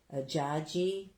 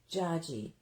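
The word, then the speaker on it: dziadzi: I don't even know how to pronounce that. D-Z-I-A-D-Z-I. Jaji. Oh. Jaji. So... That's like Jaju, because we have a Jaju. So that's Jaji, his grandfather in Polish.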